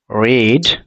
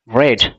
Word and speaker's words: read: স scene একটাবার বল এটা কি বলে রিড রেড রেড রেড এন্ তিন কিন্তু এই মিস্টেকটা করবে না হ্যা